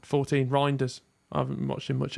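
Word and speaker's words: Reijnders: was I saying 14 reinders I haven't watched him much at AC Milan but he you like because it rhymes with grinder yeah there you go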